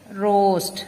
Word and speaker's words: roast: word given is roast roast lettuce is silent here the next word is